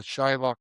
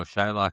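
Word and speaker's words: Xaloc: No Shillock starts a It's X A L O C. Well that was just how they pronounced it.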